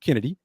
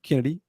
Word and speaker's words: Chennedy: and it is pronounced Kennedy even though it's ch it is Kennedy the k sound Kennedy Carter Caitlyn Clark situation